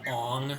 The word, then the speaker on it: Aang: calls his he calls he calls Aang Ong in the Avatar movie I'm really true to their original agent pronunciation yeah oh my God